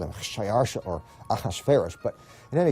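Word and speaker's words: Xšayāršā: His Persian name, in Old Persian, which is his original native language, is Shayarsha.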